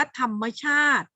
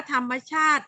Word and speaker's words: ธรรมชาติ: มา แล้ว นะ คะ ธรรมชาติ อุปสรรค นะ คะ แล้ว อะไร อีก เยอะ แยะ เลย นะ คะ ที่ มี ตัว สะกด ยัง ธรรมชาติ คือ มอ ม้า สะ กด เนี่ย อ่าน ออก เสียง เป็น เสียง อ่ะ ทำไม นะ ถ้า มี